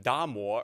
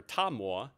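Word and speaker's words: 達摩: Some missionaries also thought that Bodhidharma, or in the Chinese pronunciation, Da Mo or Ta Mo in Chinese, was in fact the Apostle Thomas.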